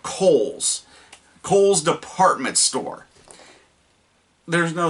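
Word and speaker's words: Cole's: it c-o-l-e apostrophe s they call it coals Kohl's department store there's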